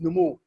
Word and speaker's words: Nomuo: Yeah, it's pronounced Nomuo.